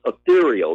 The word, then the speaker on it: Ethereal: The Real. It's pronounced Ethereal, The Battle for Heaven and Earth.